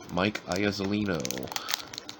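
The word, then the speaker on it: Mike Iuzzolino: And then that last card, if you want to know how to pronounce that guy's name, it is Mike Iazolino.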